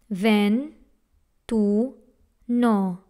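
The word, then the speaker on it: ventuno: This word has three syllables. Ven, tu, no.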